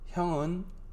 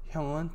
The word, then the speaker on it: 형은: También en ese caso se pronuncia, digo, se escribe he, pero no se pronuncia tan fuerte. 형은 뚱뚱해요. ¿Sí? En lugar de pronunciar así, se pronuncia más o menos de esa manera. 형은 뚱뚱해요. Como si fuera E, ¿sí?